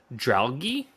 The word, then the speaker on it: Dragalge: the article was, I'm going to say the name wrong, Dralgi. Is that how you say the little Dragalge, seahorse guy?